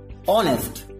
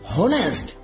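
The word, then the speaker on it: honest: ও এন এস টি, হনেস্ট, ইটস নট হনেস্ট, এটা হবে অনেস্ট, এখানে এইচ, এইচ এর উচ্চারণটা কি হলো, এইচ হ কিন্তু হয়নি, এটা হলো কি, অনেস্ট, এইচ এর উচ্চারণটা অ, অনেস্ট, নট হনেস্ট, সেই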